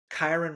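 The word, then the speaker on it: Kyren: puka nakua Cooper cup Kiren Williams Kiren rhymes with mean no it doesn't really but if you the way it's spelled last name love it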